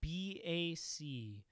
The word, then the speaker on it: BAC: run by Mike Corrigan it is not called back it is BAC you say every letter and don't pronounce them all as one there's names for those